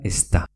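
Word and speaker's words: ez da: Z más D, que queda como una ZT. Es da, que quiere decir no es, se pronuncia está.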